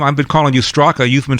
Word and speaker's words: Straka: I've been calling you Straka. You've been saying Strzok. Do I not pronounce the A? Yeah, there's a silent A at the end of my name.